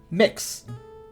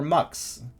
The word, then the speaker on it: Mx: organizations throughout the uk how do you pronounce mx usually pronounced mix oh it is mix or mux sometimes even sometimes yeah is it an